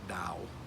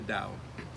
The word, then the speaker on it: Tao: key texts of taoism it's spelled with a t t-a-o-i-s-m but it's pronounced more like a D sound like Dao the Dao